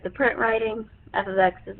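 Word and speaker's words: f(x): x that's saying the function of X we pronounce it f of X it is not f * X it is f ofx meaning function of X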